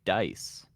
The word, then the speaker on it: Dise: pronounce his name, and he did say Dise. Yeah, it's Dise. Yeah, it's not Yes. Dise or... Yes. I was thinking it was Dise, like Dise nuts, but that would have been funny.